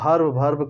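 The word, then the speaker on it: verb: लेकिन हम लोग वर्ब कहते रहते हैं, है ना, क्योंकि जो है आदत हो सकता है, लेकिन सच्चाई बात यही है कि वर्ब में जो है आर साइलेंट होता है ना।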